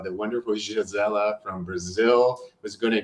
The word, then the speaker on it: Gisela: So Dr. Giselle, I should say, I don't know why I'm just saying Giselle, that's not nice. I'm trying to learn how to say her name right, which I'm struggling with. But Dr. Gisela, she is a doctor that is very interesting.